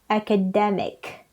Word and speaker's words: academic: academy second syllable and the adjective is academic third syllable okay then so let's